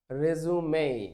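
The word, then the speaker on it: résumé: এটাকে বলা হয় রেজুমে। কি বলা হয়? এটার উচ্চারণ কি বল সবাই? রেজুমে বল এটার উচ্চারণ কি বল এটার উচ্চারণ কে রেজুমে রেজুমে ঠিক এক ইংলিশ ইংরেজি ভাষা দেখো কত বৈচিত্রময় এই শব্দটাকেই এই শব্দটাকেই যদি আমরা রিজিউম বলি রিজিউম রিজিউম শব্দটা তখন ভার্ব হয়ে যাবে এবং তখন এর অর্থ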